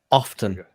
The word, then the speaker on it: often: So it's probably her class where she talked about how the T in often is not pronounced, and it comes from the original word off. I say it is pronounced often.